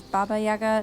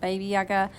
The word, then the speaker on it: Baba Yaga: so apologies for that it is Baba yagger not baby yagger um and yeah they